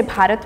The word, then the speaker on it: Bharat: First parat and second Hindustan. So mostly people say bharat more. It's easier. That is the main pronunciation of our country.